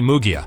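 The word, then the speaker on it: Munguía: Jaime Munguia, note to editor, pronounced as Jaime Mugia, on the other hand respected Canelo, so he got the chance to face Alvarez this year.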